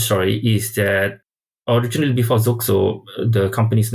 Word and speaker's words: Xoxzo: Like, it's XOXZO, so how do you pronounce it? Xoxzo. Xoxzo. Xoxzo. So you can just replace the X with Z and then K in the middle, Xoxzo.